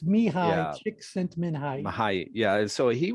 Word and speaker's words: Csikszentmihalyi: It's Csikszentmihalyi. It's Mihai, Yeah. Csikszentmihalyi.